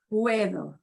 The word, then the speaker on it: puedo: you know whatever puedo puedo and notice we hear all of those sounds the u e both the u e pronounced it's a diphthong they Glide together puedo okay that kind